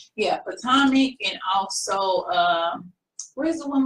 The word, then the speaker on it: Potomac: She did, I think she said she did Real Housewives of how do you say Potomac? Yeah, Potomac, and also where's the one with the mob wives on it?